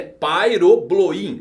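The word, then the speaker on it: Pyrobloin: substância chamando de piroglina a pronúncia correta é pai ou blowin o pairo do nome dessa substância vem do grego que significa fogo uma clara alusão a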